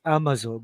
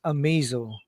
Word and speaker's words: Amazo: Batman is facing Amazo I used to uh pronounce it as Amazo but it's Amazo Katy Andy and Peter yep called by juwel